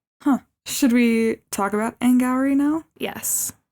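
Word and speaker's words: Auli'i Cravalho: Should we talk about Anne Gowrie now? Yes. Which, by the way, that is how you say her name.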